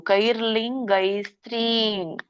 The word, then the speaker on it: ಕೈರ್ಲಿಂಗೈಸ್ತ್ರೀನ್: ಕೈ ಇಲ್ಲಿ ಲಕೆ ಅರ್ಕಾವಳಿ ಇರೋದ್ರಿಂದ ಮೊದಲು ಹೇಳ್ಬೇಕು. ಕೈರ್ಲಿಂಗೈಸ್ತ್ರೀನ್. ಸ್ತ್ರೀ ಜಗ್ಬೇಕು, ಎಳಿಬೇಕು.